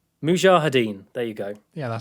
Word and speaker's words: Mujahideen: He does hang on, I wrote this down phonetically. I could try and get it right. Mujahideen, there you go.